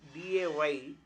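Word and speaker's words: Wednesday: W E D N G E S D A Y D is silent day.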